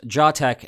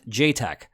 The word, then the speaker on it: JATEC: And yes, it is pronounced JATEC and not JTEC.